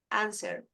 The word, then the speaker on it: answer: So remember, the word, the W, you don't pronounce it in many words. Right, wrote, wrong, answer is mute.